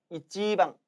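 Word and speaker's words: 一番: 따라서 이 1번의 일본어 발음이 이찌방, 이찌방이에요.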